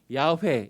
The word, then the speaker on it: 야훼: 그래서 이것을 발음하면 야훼 이렇게 발음하게 됐습니다.